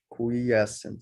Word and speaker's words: quiescent: here medium holds field at a constant value quiescent okay quiescent cells I just got a pronunciation correction here from Juliana so our simulation